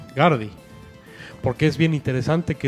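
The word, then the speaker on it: ガーディ: Growlithe en japonés se pronuncia Guardi.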